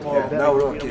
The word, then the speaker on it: Nawrocki: Gave me a little different pronunciation. I said, I want to get it perfect. Did I get it right? Yeah, good, good. Nawrocki. I better get it right.